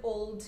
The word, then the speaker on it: old: Old, tem a letra L no meio, ela é pronunciada, então a gente fala old, com Lzinho mesmo pronunciando ele, tá? A gente pode pronunciar com O, com o som do U, não, tá? É o som do L mesmo, old.